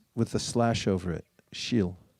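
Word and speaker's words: śīl: It's pronounced with a slash over it. Shil. Shil.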